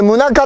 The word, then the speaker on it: 宗像: これ宗像って読むんです。